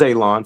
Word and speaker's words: Alon: My name is Alon for all the new Mishbaka. Pronounced like you're going to cut grass, like you're going to cut a lawn. It's not spelled that way, but it is pronounced that way.